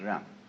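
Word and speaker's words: 仁: spelled Jen, for reasons best known to Chinese scholars. I don't know what they are, but it's pronounced Ren.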